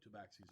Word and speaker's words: tabaxi: Honestly, being from Forgotten Realms in Faerun, you all would know what a tabaxi looks like and who tabaxis are.